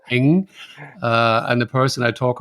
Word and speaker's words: Ng: So I think I heard you say Eng, and the person I talk about in this case is Andrew.